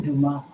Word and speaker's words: Dumas: Warren Dumas. Okay, spelled WuhryndUmas. The S is silent. Dumas. It's French, baby. Absolutely.